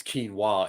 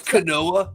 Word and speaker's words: quinoa: like three years before people could not pronounce quinoa in movies what is this kanoa shut up yeah uh